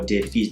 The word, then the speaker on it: Defhize: f h i z e and this is pronounced defeats or defies not defy deficient right that means well some people can